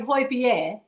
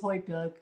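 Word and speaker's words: Højbjerg: I I try to get people to say h beer right because that's how you pronounce it but everybody says hyber so do yeah um yeah and but but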